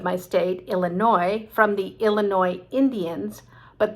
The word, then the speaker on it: Illinois: state illinois from the illinois indians but they gave it a french spelling and so the n-o-i took an s that we never pronounce and another state name